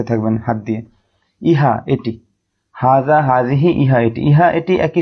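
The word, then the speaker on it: هذه: ফেলে তা আপনি এভাবে ভালোভাবে মুখস্ত করে নিবেন হাজিহা এটি জালিকা তিলকা উভ সেটি এবং উচ্চারণটা আরেকবার বলে দিচ্ছি হাজিহি ইহা এটি জালিকা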